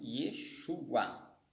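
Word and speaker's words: ישוע: O VAV tem som de U, de O, mas aqui é U. E o AIN, ele é mudo, ele não há pronúncia para o AI, ele é mudo, mas como os sinais maçoréticos vai trazer, ele vai ter som de A.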